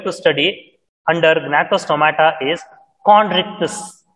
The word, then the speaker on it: Chondrichthyes: It is having, the first class that we are going to study under gnathostomata is chondrichthyes. It is pronounced as chondrichthyes.